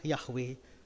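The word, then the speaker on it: Yahweh: memang punya nama dan namanya adalah yahwe nah yahwe ini pengucapannya tapi kalau ditulis dalam bahasa Ibrani Cuma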